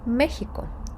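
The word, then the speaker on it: México: іспанською Вона просто чудова назва Мексики читається як не дивно Мехіко як і міста так і всієї країни Мехіко тут не Стоїть над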